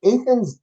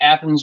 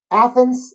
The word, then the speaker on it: Athens: having coming up April 26 and 27 in athan's Georgia where's that in in relation to Atlanta uh so it's it's actually Athens Georgia uh but it's a home of the